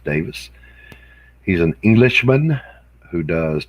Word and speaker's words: Davies: name is stuart davis spelled davies d-a-v-i-e-s but pronounced davis he's an englishman who